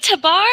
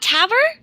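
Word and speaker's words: Tabr: it from this yeah really tabar not tavr that's the way they pronounce it in the movie uh i don't care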